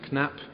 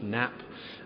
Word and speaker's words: Knapp: but every time Norman introduces me as Professor knap uh which uh is how I pronounce my name when I'm not in England but in England I'm just nap um but nap is